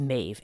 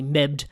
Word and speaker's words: Medb: of us the the Anglo sized version is mave M AE V usually a lot of people want to say mebed or things like that it's Ma and and just by the